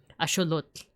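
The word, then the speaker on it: axolotl: Upon I never realized that he's based on a on an axelottle or if we want to pronounce it the Nawat way, asholot.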